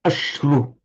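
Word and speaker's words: aśru: So, for example, ashru, it's a short a, but the syllable itself is heavy. It's two matras, two measures. Ashru. So in theory, you take double the length of time to say ash as you do to take ru. Ashru.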